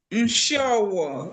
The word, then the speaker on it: Nshowo: Nshowo. Nshowo is spelled N-S-I N-S-H-I-O-W-O.